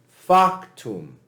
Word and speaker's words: factum: But if you have a 2-syllable word, like factum, anytime you have a 2-syllable word, the first syllable is accented. So this would be pronounced factum, factum.